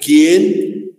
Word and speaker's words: quién: ¿Quién? La U no se pronuncia por si acaso, ¿no?